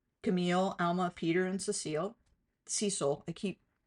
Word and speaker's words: Cecile: I know Cecil is a man's name and it's spelled Cecile with an E at the end, but I know from your grandmother that it was pronounced Cecil.